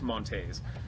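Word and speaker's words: Monteys: How do you say his name? Montes? Yeah. So, Albert Montes.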